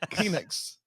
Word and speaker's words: Phoenix: Phoenix. H is silent. It's a silent H. It's Phoenix.